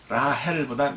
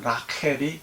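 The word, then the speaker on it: רחל: 라헬을 보고 라헬보다 라켈이 더 정확한 발음입니다. 헤이가 아니라 카트를 썼기 때문에 그렇죠. 이스라엘 사람들은 라켈 그러죠.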